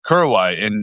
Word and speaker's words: Korowai: Am I pronouncing that properly? Korowai, In yeah, Indonesia? Korowai. Kurawai in Papua New Guinea?